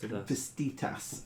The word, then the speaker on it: Vastitas: Vastitas, apparently, is how it's pronounced. Vastitas. There we go. I've got to get it in the right because it's weird. It's almost Italian in its pronunciation.